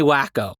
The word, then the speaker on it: Waco: Second, I actually looked up a pronunciation of Waco, and it told me wacko, like an audio recording in which someone's like, here's how you properly pronounce it.